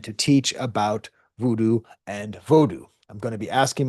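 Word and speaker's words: vodou: But the actual proper term for Haitian vodu is vodu pronounced like that.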